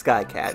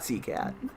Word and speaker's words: Skycat: No, it is Skycat, not Seacat.